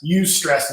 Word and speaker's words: eustress: the opposite of stress use stress is how that's pronounced so when i say use stress that's good types of